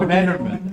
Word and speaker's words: Dreneman: D is silent when we're in first. Oh, Rennerman.